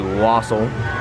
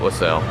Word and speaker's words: wassail: they do have the wassail yes John you were correct even the lady here pronounce it Wassa not laselle now you're going to